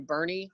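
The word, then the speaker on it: Boerne: parents hadn't told me hey we're moving to bernie and then i knew that's how to say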